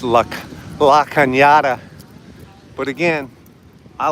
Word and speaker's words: La Cañada: I call it La Canada. You know? But it's pronounced La Cañada.